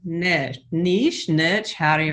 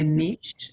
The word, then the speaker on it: niche: I did find out that either pronunciation is correct. It's just there you go. Whichever you prefer, potato. If you'd like to sound fancy, you can say niche.